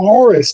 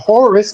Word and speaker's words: Horus: Heru and hero are phonetically the same word. Heru is who you might call Horus. The vowels are interchangeable. The O and the U are interchangeable. Instead of Horus, it's Heru.